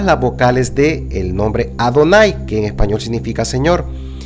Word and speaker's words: Adonai: las vocales de adonay sabía que aunque se escribe de esta manera debía de leer Adonai y no Jehová esta estas esta palabra